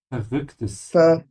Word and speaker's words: verrücktes: Hast du vielleicht ein verrücktes Mädchen in besten Klamotten gesehen? Verrücktes. Verrücktes. You're still sounding it like a V. It's a F. Ver, Verrücktes.